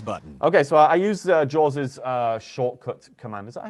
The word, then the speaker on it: JAWS: Okay, so I use Jaws's shortcut command. Is that how you say it? Jaws's?